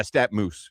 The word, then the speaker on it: StatMuse: Yeah, StatMuse.